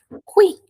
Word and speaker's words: qui: H, uma regra importante, pessoal, que tô pensando aqui, eh, se eu não tô deixando escapar nada, a letra U é sempre pronunciada, tá?